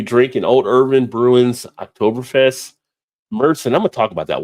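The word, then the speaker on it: Märzen: to me a little bit how people are pronouncing it. So we're gonna have a topic on that. People say Marzen, but it's Merson.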